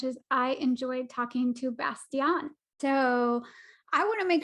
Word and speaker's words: Bastian: I enjoyed talking to Bastian. So I want to make sure I'm saying your name correctly. Is it Bastian? Well, Bastian, yeah, it's the English pronunciation. In German, it's Bastian.